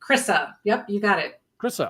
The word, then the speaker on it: Kryssa: asked you got it it's phonetically Chrissa yep you got it